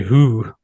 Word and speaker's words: Hoo: I would say who.